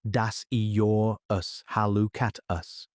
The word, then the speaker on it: Dasyurus hallucatus: The northern quoll, scientific name Dasyurus hallucatus, pronounced das-ee-your-us-hall-oo-cat-us, is roughly the size